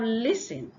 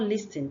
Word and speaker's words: listen: say singer but singer then you have listen and not listen the t is silent you have carton the